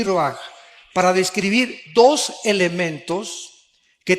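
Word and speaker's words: רוּחַ: Se pronuncia roaj. Por ejemplo, cuando hablamos del Espíritu Santo, el Espíritu Santo es roaj, el cadosh.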